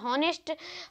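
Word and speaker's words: honest: बस आगे बढ़ते हैं, तो हमारा चौथा इसमें भी था हॉनेस्ट, हॉनर, हावर, हेयर, इसमें एच जो है वो साइलेंट है।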